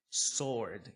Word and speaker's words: sword: Sword também é outra palavra que a galera erra muito a pronúncia. Esse W nós não falamos, nós falamos sword. Espada nós falamos sword. Tá? Então memoriza a pronúncia aí também.